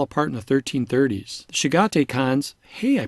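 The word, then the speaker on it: Chagatai: The Shigate Khans, hey, I pronounced it correctly, ruled Central Asia until the 1370s.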